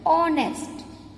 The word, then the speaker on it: honest: But this word, in this word H is silent. We called this word honest.